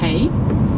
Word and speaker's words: hei: Alors pour les bases en norvégien, pour dire bonjour, on dit hei. Ça se prononce comme hey en anglais.